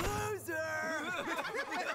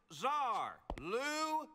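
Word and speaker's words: Lou Zarr: you twoo stop talking my name is loser it is pronounced lar this is Trio Cel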